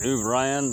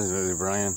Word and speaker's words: O'Brien: Apparently, Conan O'Brien, that's how you pronounce it, O'Brien, anyway.